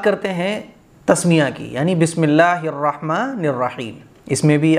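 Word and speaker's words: بسم الله: غلطی نہیں ہے تو کوئی بات نہیں ہے، بسم اللہ، یہاں اللہ کا نام جو ہے وہ باریک پڑھا جائے گا، بسم اللہ نہیں پڑھا جائے گا بلکہ بسم اللہ، بسم اللہ الرحمہ، ہر ہر کی جگہ کچھ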